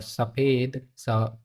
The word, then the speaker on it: सफ़ेद: और सफ़ेद, सफ़ेद, सफ़ेद हवा नहीं निकलनी चाहिए इसको बोलते समय।